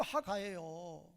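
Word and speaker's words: הגה: 어 기불이어 발음 그대로 하가예요.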